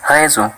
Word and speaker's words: raison: Jika huruf S-nya sendirian, maka dibaca seperti huruf Z. Contohnya ialah la maison, yang artinya sebuah rumah, dan une raison, yang artinya sebuah alasan.